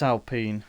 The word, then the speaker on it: Alpine: Do you say Alpine or Alpine? It's Alpine, they've said. Ah, okay. Well, Alpine, it is Renault. Renault is still prominently there. Alpine used to have the old Renault Alpine back in the day.